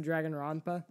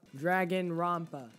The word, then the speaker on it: Dragonrompa: Para, I pronounce it Dragonrompa. Dragonrompa. It's really hard to say in and P together. Those I don't think those were really designed to go together like that.